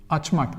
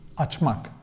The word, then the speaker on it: açmak: So, and when it comes to pronounce them, we use mak, mek, but according to the vowel harmony, so açmak, that's how we pronounce them, açmak.